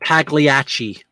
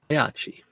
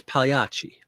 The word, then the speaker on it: Pagliacci: It's not Pagliacci. The heathens. Pagliacci. PLI is pronounced like million. The year in million. It's Pagliacci. Double C is like CH.